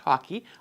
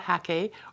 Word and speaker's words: Hake: I've learned recently that it's pronounced hockey, like the game, not hake or hake, like I had been mispronouncing.